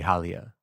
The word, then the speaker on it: Halia: Hala. Haliyah. Ayira and Limoria and Halia the fair. It has to be Halia. Okay. The way that he wants to pronounce it at least.